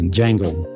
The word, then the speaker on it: Django: So if you haven't seen uh jango sometime I want to pronounce the D but I guess the D is is silent and so instead